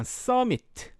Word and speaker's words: summit: 저 summit은 summit 아니고요. 읽으실 때 미음 발음 쓰지 않습니다. 그래서 그냥 summit. summit. T 발음은 거의 안 하고요.